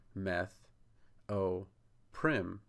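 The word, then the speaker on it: trimethoprim: the letter O and Prim like Prim in proper so you just go slowly try meth o Prim and then you'll have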